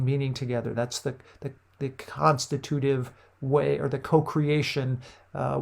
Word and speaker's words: constitutive: what we call and this word is properly pronounced constitutive right some people would say constitutive but it's constitutive and these constitutive rules are really emergent rules